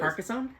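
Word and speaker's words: Carcassonne: Kerisone. Kerosone. I can't car. I can't pron I butcher the name. I apologize. Carcassone. Carcassone. Thank you.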